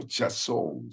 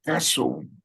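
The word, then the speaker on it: חזון: conmigo en uption no en hebreo es chaso no que es aprender hebreo chazón sueño la palabra Hace algunos la pronuncian como caso bueno la palabra sueño viene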